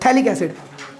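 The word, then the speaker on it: phthalic: दो कार्बोसिंथ नहीं पढ़ते पी साइलेंट रहता है ठीक है पीएच को भी साइलेंट रखते हैं टी से स्टार्ट करते हैं थैलिक्स ठीक है पैलिकल भाई इसको ठीक तो थैल एसिड इसको बोल के पढ़ते हैं इतना क्लियर हो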